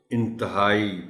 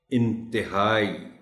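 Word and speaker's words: انتہائی: ख्याल रखा जाना चाहिए क्योंकि आमतौर पर बोलते हुए लोग इस लफ्ज़ को inthahai पद जाते हैं देखो रेयर के साथ जरण में आकर के पढ़ा जाए तो अच्छा होगा intihai तो जासूस पहले सिन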